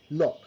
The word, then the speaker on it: knock: All right, knocking at the door, knock.